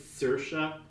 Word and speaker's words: Saoirse: like your name and I can barely say it because it's spelled like swamis but it's Saoirse and I'm sorry but